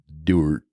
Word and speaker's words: Dordt: the end of our school's name is Dorf. Yeah. And if we couldn't pronounce the F, it might sound like Dordt.